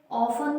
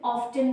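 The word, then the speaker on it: often: Means they, अक्सर, ऑफन, देखिए इसका प्रोनाउंसिएशन ऑफन भी बोलते हैं, अब जो मॉडर्न इंग्लिश में उसमें ऑफ्टन भी बोलने लगे, तो please don't be confused, ऑफन भी करेक्ट है एंड ऑफ्टन भी करेक्ट है।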